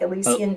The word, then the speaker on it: Elysian: So, Kaysen, how do you say it's Elysian, right? Like Elysian vacation.